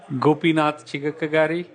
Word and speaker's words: Gopinath Chigakkagari: bit different how do you say your name gopinatha tiga karate awesome you can call Gopi Gopi alright that's